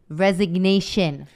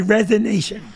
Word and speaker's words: resignation: debating because i apparently i said i say it wrong the great resignation you said resonation i know and i said there's a g in that word resignation i will you know